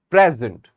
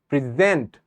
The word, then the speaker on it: present: we have present so first I'm giving stress on the first part of the of the sentence of the word actually the first syllable and then on the second word present I am stressing on the second syllable so how is it